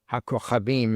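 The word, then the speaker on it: הכוכבים: It lists hakokhavim, or hakochavim in Hebrew, the correct pronunciation.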